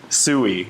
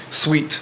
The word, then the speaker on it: Sui: Okay, imagine you're pronouncing sweet. Okay, just remember sweet in your head. Sweet.